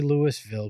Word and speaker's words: Louisville: is it is it is it Louisville or Louisville because I I mean I feel like the people there say Louisville I say Lewis bill because my middle name is spelled that way that one I feel like you will definitely piss off some locals I already I already have yeah I already have they're like it's Louisville and I was like what